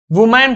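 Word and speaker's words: woman: देखो याद रखना, इसे वुमेन पढ़ते हैं, प्रोनाउंसिएशन बहुत इंपॉर्टेंट, वुमेन। और अगर इसका हम प्लूरल करें तो इसे हम वीमेन पढ़ते हैं, वीमेन लिख रहा हूं, बहुत इंपॉर्टेंट है प्रोनाउंसिएशन।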